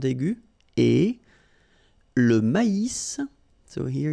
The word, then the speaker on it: maïs: L'avoine, le blé, here, accent aigu, et Le maïs, so here you get this tréma, so maïs, maïs. And then you pronounce the final S, maïs.